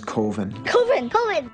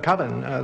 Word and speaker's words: Coven: The name of the film is Coven. Coven. That's the proper pronunciation. No. Coven sounds like oven, man, and that's just, it doesn't work.